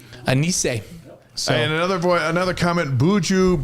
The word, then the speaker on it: Anisse: Anisse. Okay, so Anisse, there's a T in it, but the T is silent.